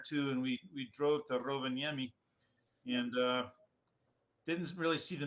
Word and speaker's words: Rovaniemi: Like, probably not pronouncing the city name correctly, but to me, I always say Rovaniemi. Rovaniemi.